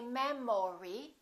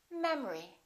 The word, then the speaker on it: memory: we say economy economy look at this one the second syllable is reduced the first syllable is stressed we don't say memory we say memory repeat after me memory